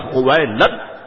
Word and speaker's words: خویلد: تھا۔ والد کا نام خویلد تھا۔ یاد رکھیے گا بعض لوگوں کو یہ پڑھنے میں دشواری ہوتی ہے، مگر میں نے اس کا آسان سا تلفظ بتا دیا، خویلد۔ یہ حضرت خدیجۃ الکبریٰ